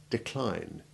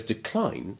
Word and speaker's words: decline: Note too that the primary and secondary stresses are commonly exchanged between the syllables to distinguish the verb incline from the noun incline, exactly as with the verb intrigue and its noun intrigue, whereas decline is like fatigue and always keeps the stress on the second syllable, whether it is the verb or the noun.